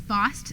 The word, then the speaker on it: Bost: uh that is right it is Bost spelled like pronounced like cost uh David Hawkings senior